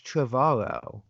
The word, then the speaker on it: Trevorrow: Trevorrow rhymes with tomorrow. So it's Trevorrow.